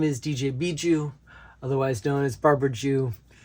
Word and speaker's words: Bjoo: It's not intuitive. I've definitely gotten DJ Boo, DJ Bjoo, you name it. But it's Bjoo, kind of like, it almost sounds like a kiss in Portuguese, Beijo, and jewel in French, bijou.